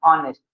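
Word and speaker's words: honest: अब ये बच्चा देखो दिखने में तो हॉनेस्ट लिखा है, लेकिन उसको पढ़ा क्या जाता है ऑनेस्ट, एच तो साइलेंट होता है, तो पढ़ते क्या है ऑनेस्ट।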